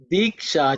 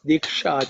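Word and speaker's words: दीक्षा: Diksha chame, Diksha chame, Diksha chame. Okay. In terms of pronunciation, ksha you should pay attention to. Ik and sha, which is the cerebral sha. Diksha chame, diksha chame, diksha chame.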